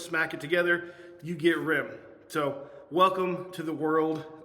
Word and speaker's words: rimg: now uh real quick on the name why Rim r i m g it's pronounced Rim r m spelled Rim rimg why